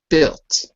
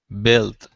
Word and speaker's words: built: The last word is built, Built. because you're always putting the U. But remember, the U is silent in Okay.